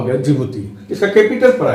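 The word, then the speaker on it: Djibouti: अंग्रेजी में जिबूती आपको डी शब्द से स्टार्ट मिलेगा, डी साइलेंट रहता है, लेकिन यही एक कैपिटल पोर्ट है जो रेड सी के साथ पोर्ट बना रहा है।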